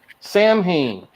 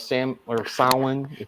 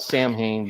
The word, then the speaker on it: Samhain: Sam Hain. This one had the best art because it was the creepiest looking. Basically, grandma tells her grandkids about the old Celtic festival of Samhain.